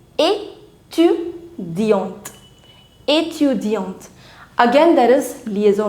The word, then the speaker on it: étudiante: As soon as on the letter E, you put the accent aigu. This is accent aigu, the forward accent. The pronunciation of E changes from E to A. So now it's not A, it's A. Étudiante.